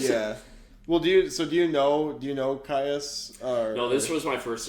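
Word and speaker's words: Kyuss: Is it Caius or Kios? I looked it up. It's Caius.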